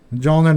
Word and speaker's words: Mjolnir: So the Jolner node sounds like Jolner node.